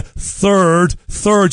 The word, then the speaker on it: Third: But I've got to ask you about your old friend, King Charles the Third. You've got to pronounce the TH there. Don't call the monarch a turd, whatever you do.